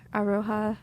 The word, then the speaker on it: Aroha: This was your Aroha beginnings.